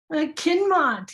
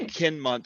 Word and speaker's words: Kinmont: Kinmont. You got to say my name right. Oh, gee, I'm sorry. I got an L in there. I'm sorry. It's okay. Oh, Kinmont, sorry.